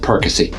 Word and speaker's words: Perkasie: And yes, that's how you pronounce it, Perkasie.